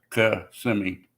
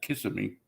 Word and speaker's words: Kissimmee: to Poinciana which is below Kissimmee and it's pronounced kasimi not Kissimmee say kiss me in Florida you know try